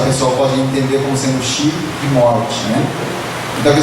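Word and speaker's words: 四: número 4, né, que a pronúncia do número 4 em japonês é shi, que a pronúncia de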